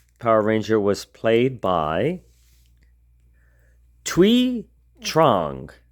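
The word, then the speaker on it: Thuy Trang: Ranger was played by twe Trang so I looked up how you say it uh that's her name and she played Trini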